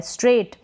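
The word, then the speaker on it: straight: और यहाँ पर GH का जो होता है उच्चारण, प्रोनाउंसिएशन नहीं होता है, साइलेंट रहता है। G और H का यहाँ पर प्रोनाउंसिएशन नहीं हो रहा है। स्ट्रेट, स्ट्रेट का मतलब होता है सीधा।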